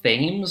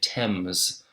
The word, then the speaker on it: Thames: You need to know a very important river is called, and it looks like Thames or Thames, but you say it Thames. The River Thames, that's how they say it.